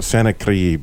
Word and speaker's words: Sennacherib: There you go, Sennacherib.